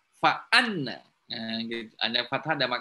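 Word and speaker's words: فأنّ: Jadi kalau hamzahnya di bawah alif bacanya inna. Kalau ada kepala hamzah di atas alif maka membacanya fa anna.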